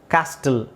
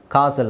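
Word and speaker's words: castle: ಅಲ್ಲೂ tea silent ಆಗಿರುತ್ತೆ ಕಾಸಲ್ ಕಾಸಲ್ ಕಾಸ್ಟಲ್ ಅಂತ ಹೇಳಲ್ಲ ಕಾಸಲ್ ಅಂತ ಹೇಳ್ತಾರೆ ಅದನ್ನ ಓಕೆ ವಿಸಿಲ್ ರೆಸಲ್ ಸುನಾಮಿ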